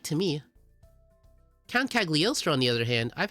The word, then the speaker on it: Cagliostro: That would be Count Cagliostro. Am I pronouncing it right? Cagliostro.